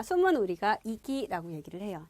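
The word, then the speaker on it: 息: 자, 발음은 우리가 뭐라고 한다? 이기라고 얘기를 해요.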